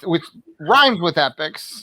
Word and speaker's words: Epix: But I think the first season of Get Shorty is on Netflix, which rhymes with Epix.